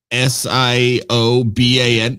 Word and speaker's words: Siobhan: But or any of those Irish fucking names, like Siobhan is like Sioban.